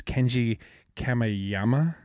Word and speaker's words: Kenji Kamiyama: It's Kenji Kamiyama.